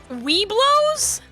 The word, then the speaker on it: Webelos: um it's it's it's spelled w-e-b-e-l-o-s so it's like we below but it doesn't have a second W uh and it stands